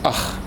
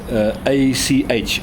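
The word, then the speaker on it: ag: The next one is ach, A-C-H, ach. It's spelled A-G, but it's pronounced A-C-H.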